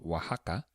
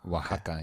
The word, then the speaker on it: Oaxaca: So we went to a city called Oaxaca. And Oaxaca, yeah, it's fun to say that, right? It's spelled Oaxaca.